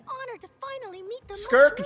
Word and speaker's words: Skirk: It's an honor to finally meet the Skirk just rhymes with twerk.